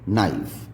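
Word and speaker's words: knife: जैसे कि हमने वर्ड पढ़ा है के एन आई एफ ई, नाइफ। नाइफ में के साइलेंट हो जाता है।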